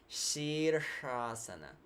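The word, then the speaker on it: Śīrṣāsana: English normal shine shiver so sheersha so that first show is this Shiva that penetrating sound yeah and she'd cross so this second truck is that cerebral shrub when we point with our tongue upward and curl it so sheer asana Shh in the same word in one word sheersh-asana the headstand will come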